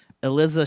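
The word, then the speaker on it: Iliza: Yeah, Eliza.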